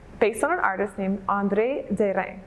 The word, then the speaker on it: André Derain: on an artist named andre de rey that's the french way to pronounce it i get andre durang